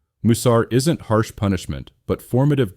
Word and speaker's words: Musar: The third crucial term is Musar, pronounced Musar, meaning discipline or instruction.